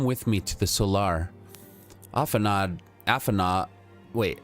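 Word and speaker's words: Alphinaud: think of it as if it ends with the U instead of the D. And I only know that because they've said it a lot in the game, so I'm stealing their pronunciation. Okay. And I think it's supposed to be French, or of the French dialect.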